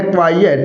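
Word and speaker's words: quiet: और इसके उच्चारण दोनों का उच्चारण सेम नहीं है साथियों। यह तो होगा क्वाइट। और वो होगा क्वाइट। तो जो हमारा वर्ड है क्वाइएट।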